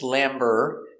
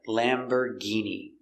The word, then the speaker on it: Lamborghini: one is lamborghini lamborghini we see it's not or it's lamber and the g makes a hard g sound lamborghini this is a lamborghini let's look closer at the pronunciation pronunciation of lamborghini lamb er lamber lamber use the closed er sound lambor lamberg e lamborghi lamborghini e lamborghini remember use that sound lamborghini lamborghini lamborghini stress on the first syllable lamborghini do you